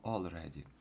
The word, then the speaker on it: already: Читаємо не ready, а ли читається як all. Тому читаємо already.